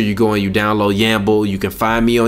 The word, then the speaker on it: Yamble: Yamble. Yamble is spelled W-A-M-B-L-E. No, not W-Y-A-M-B-L-E. This man is brewed. Y-A-M-B-L-E, like gamble, but with a Y.